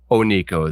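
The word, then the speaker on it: oneko: is cat yes okay it's Ono then uh because it is a cat but if you want to know how to spell it how to find it or hard to install it it's spelled one as an o n e KO um so it's a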